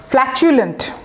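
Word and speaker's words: flatulent: আচ্ছা, ফ্ল্যাচুলেন্ট, এই যে টি ইউটা উচ্চারণটা চ এর মতো করে করবেন, ফ্ল্যাচুলেন্ট।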